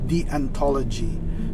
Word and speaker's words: deontology: discussing duty ethics or d the anthology it's pronounced as the anthology but spelled as the ontology okay so what